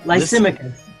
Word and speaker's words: Lysimachus: Lysimachus. The emphasis is on the second syllable.